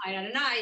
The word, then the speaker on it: Adonai: Can't pronounce this one. You just got to know that this is the name of God. Oh, would you say Adonai? Adonai, exactly. Oh, yeah, Adonai.